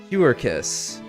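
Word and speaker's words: Quercus: I know that's not how you pronounce Q's, but I'm gonna do it anyway. Quirkus. Quirkus. Oh no.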